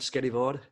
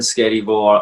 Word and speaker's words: Skerryvore: and then why am i pronouncing it right scary board scary that's it yeah scary it's a scottish arm in there my name is and within scary war i'm the singer and guitarist and the main